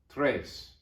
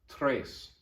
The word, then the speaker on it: tres: is duo number three tres don't forget to trill your r tres tres tres is three